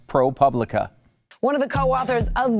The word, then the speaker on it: ProPublica: always called it propublica the problem though is the latin publica publica that's how i